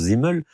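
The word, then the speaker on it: Simmel: premiers sociologues Zimel, donc ça s'écrit Zimel mais ça se prononce Zimel avant Weber et et Durkeim.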